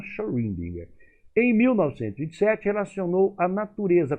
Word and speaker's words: Schrödinger: Por meio de cálculos matemáticos, esse nome eu nunca soube pronunciar, Erwin, eu pronuncio Schrödinger. Tem gente que fala diferente, eu até consultei até meus amigos aí alemães. Eles falam Schrödinger.